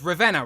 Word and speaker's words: Ravenna: If I'm pronouncing this wrong, please correct me. But it's Ravenna, right? That's right. Beautiful. Yes, I got it right.